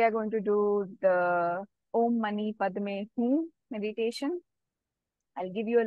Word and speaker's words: Om Mani Padme Hum: So the word Om Mani Padme Hum is Sanskrit, and there is a Tibetan version of that also. It's called Om Mani Peme Hung, or sometimes it can also be pronounced as Hum.